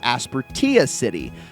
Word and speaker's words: Aspertia City: that it is technically correct to call it Aspertia City. So, because that is apparently the correct uh the correct pronunciation, I'm going to go with that.